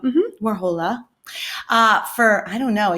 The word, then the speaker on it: Warhola: But I've been trying to set this up with Miss Warhola. Did I say it right? Yes. Oh, good. Warhola. Mm-hmm. Warhola.